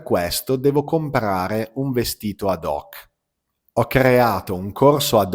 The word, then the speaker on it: ad hoc: Ad hoc. Attenzione che in italiano non pronunciamo mai la lettera H.